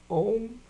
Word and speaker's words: Om: Om. Yeah, it's pronounced Om.